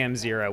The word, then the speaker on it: M0: to the zero power, how do you say that? Just say M0? Do I just say one? We just say M0.